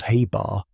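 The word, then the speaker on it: ħ: uncertainty in momentum, and h, pronounced Haybar, is the reduced Planck constant, a fundamental constant of nature.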